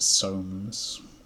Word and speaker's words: Soames: That's why they called it Soames, to rhyme with homes.